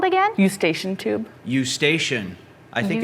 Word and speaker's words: Eustachian: incorrect on the spelling you station there's an e u s t a c h i so there's a ch sound in there can you tell me